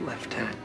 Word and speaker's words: lieutenant: the US oh and it's pronounced left tenant just FYI I got